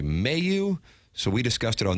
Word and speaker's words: Mailloux: But when we went to the pronouncer yesterday during the commercial break, we got Mailloux, and then we heard Doug Armstrong say Mailloux.